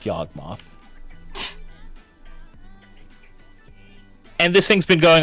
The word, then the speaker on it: Yawgmoth: Until they realize it's literally pronounced Yawgmoth.